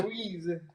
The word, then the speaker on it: gyoza: Gyoza. All right, I'm sorry. No. How do you pronounce it? Gyoza. Gyoza. Okay. All right. You know, like the bad guy in Ghostbusters.